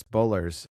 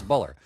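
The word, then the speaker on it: Bueller: Muller because everyone that's why I call the um Matthew Broadick movie Ferris Bowler's day off. Yeah. Ferris Buller.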